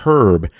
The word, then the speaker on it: herb: um I kept calling I kept calling the word herb like herbs and spices herb with the H I don't know if you're in England maybe that's how it's uh pronounced in England but um I should have said herb uh but I noticed